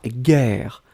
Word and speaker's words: guerre: Guerre, on écrit effectivement G-U-E-R-R-E. Donc vous avez le double R, donc qui ouvre la prononciation du E, et donc c'est la raison pour laquelle vous prononcez guerre.